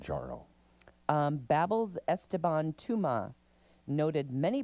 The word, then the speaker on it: Mounjaro: And it's pronounced exactly like it's spelled. Mounjaro.